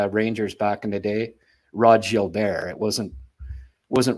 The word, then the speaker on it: Gilbert: forward for the Rangers back in the day Rod Jil bear it wasn't wasn't Rod Gilbert right so I mean you go with uh